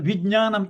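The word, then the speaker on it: vijñāna: Okay, there's no ga, that is nya. I don't know whether you can see my nya, nya, ja, nya together, nya. So vijnanam, jnanam. So it is not jnanam. Jnana means you are not pronouncing the ja part.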